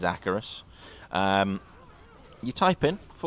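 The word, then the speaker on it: Acherus: And it is pronounced Acarus. Anyone who wants to argue with that one, go and watch some of the cinematics. It is Acarus.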